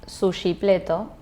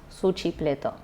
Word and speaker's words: sushipleto: Pero volviendo a la foto, esto se llama sushipleto, o como pronuncian los chilenos, suchipleto.